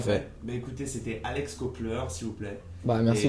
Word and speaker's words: Copler: Voilà, Donc, Alex Kopler, comme ça se prononce.